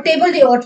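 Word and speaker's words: table d'hôte: आलक आर्ट हो गया और टेबल डे आर्ट हो गया। इसमें एज साइलेंट होता है। फ्रेंच वर्ड है। फ्रेंच में ये एज जो है वो साइलेंट होगा।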